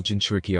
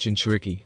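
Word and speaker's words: jinchūriki: what you mean all Jin shuriki are insane it's pronounced chinchuriki and no that's not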